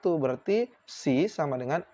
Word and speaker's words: psi: Psi sama ini bacanya psi.